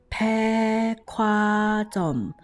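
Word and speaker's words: 백화점: คือ อือ ฮึ คือ แพ ควา จ่อม แพ ควา จ่อม เขียน เสียง อ่าน ให้ นะ คะ แพ่ ควา จ่อม เขียน ว่า แพก า จอม ออก เสียง ว่า แพ ควา จอม ถาม ว่า กฎ การ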